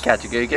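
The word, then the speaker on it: Kata Tjuta: We did the walk around the bottom of it, and we did Katajunga, which I can now pronounce. Katajunga, as we call it.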